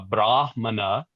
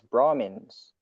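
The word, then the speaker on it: brāhmaṇa: Vashamp said at the time of sprinkling of water all the brahmanas. Oh by the way the brahana thing Brahma is the foreheaded creator. A brahmana is a brahman and brahma without any long a is the right all pervasive singularity.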